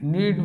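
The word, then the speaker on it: knead: यहाँ K-N-E-A-D, नीड means आटा गूंथना, और नीड मीन्स आवश्यकता, यहाँ पर के साइलेंट है।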